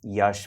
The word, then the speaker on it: Yash: Yash it's Yash rhymes with rash hour uh I've kept